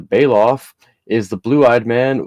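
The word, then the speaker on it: Belaf: was in charge of ganja's medical needs bailoff pronounced bailoff is the blue eyed man with a birthmark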